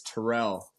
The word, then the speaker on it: Terrell: It's pronounced Terrell in my family.